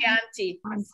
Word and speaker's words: Chianti: italian most famous wine chianti chip right so now pronounce this one so so the chi if it's chianti if it's it's key in chianti it's going to be key every time so that's the beauty